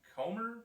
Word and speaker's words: Comer: former crawdad coach and chad comer i think that's how you say it is c-o-m-e-r i've i know it